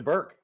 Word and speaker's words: Bourke: My last name's pronounced Burke, so as we say, it rhymes with jerk, not dork.